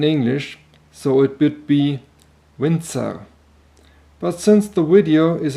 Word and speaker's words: Winzer: consonant than in english so it would be windser but since the video is in english i liked it that way and please feel free to stick to that much softer windsor pronunciation now let's start with the specifications the